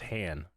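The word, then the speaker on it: Hahn: pronounced Han.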